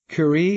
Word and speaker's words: Curie: And the newsletter kicks off with Marie Curie. Is that how we pronounce her name?